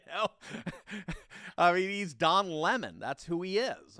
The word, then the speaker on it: Lemon: lemon i don't know i still cannot figure out how anyone could say lamonde seriously his last name is spelled l-e-m-o-n and when you see that do you say lemon no no more than